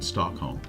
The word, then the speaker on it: Stockholm: of the population of Sweden lives in Metropolitan Stockholm the architecture in Stockholm that's how it's pronounced Stockholm um is quite um neoclassical and